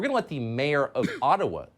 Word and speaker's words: Ottawa: let the mayor of ottawa or otawa as it's correctly pronounced ojibwa explain why peaceful truck